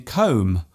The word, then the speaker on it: comb: For example, the B in comb, womb, and bomb. There is only one letter change between these words, yet they are pronounced differently.